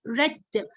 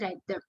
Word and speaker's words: read: Second form, it is the same spelling, but different. We say read. And also the third one is read.